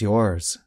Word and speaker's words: yours: For example, this bag is yours. But notice that the S at the end sounds like the letter Z.